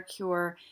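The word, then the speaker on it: Kur: Throughout the town, there are many things called cure hotels. That's spelled K-U-R hotel, which are places of accommodation and healthcare treatment all in one.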